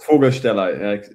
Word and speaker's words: Vogelsteller: I am delighted today to be joined by Fabian Voglestellar. Is that the correct pronunciation? Voglestellar. More with an like an F. The V is more like an F, but yes.